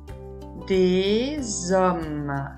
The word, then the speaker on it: des hommes: Des hommes. Le S final n'est pas prononcé. On ne l'entend pas.